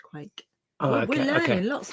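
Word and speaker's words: quaich: However you pronounce that. It's too small to be a quake. Quatch. Whatever. People are telling us it's pronounced quake.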